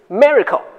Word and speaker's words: Miraico: Regarding our solution for more efficient operations and procedures in hospitals, let me introduce Miraico ( pronounce miracle), the ICD-10 AI Coding Assistant to you.